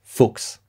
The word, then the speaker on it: Fuchs: It's Fuchs. It's a German word, okay? Don't mess up the pronunciation.